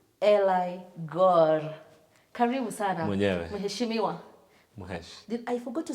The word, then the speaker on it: Eli: they pronouncing your name eli so on on set today i've got eli yes and people are gonna be correcting me uh it's not ellie ali it depends at least early